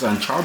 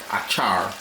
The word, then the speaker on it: anchar: It's more about the anchar masala, whereas with mango anchar, I pronounce it anchar because in my village that is how we pronounce it. Same with tal curry, not takari or achar.